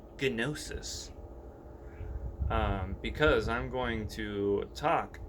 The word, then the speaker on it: Gnosis: I'm going to use the term Gnosis, spelled with a G, Gnosis, because I'm going to